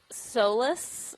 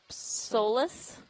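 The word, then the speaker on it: Psolus: say the name uh I know how to spell it it is p-s-o-l-u-s so maybe Solas so Solas our solo day would be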